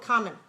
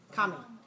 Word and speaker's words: common: how about the word common common common two syllables where's the stress first one right so the away is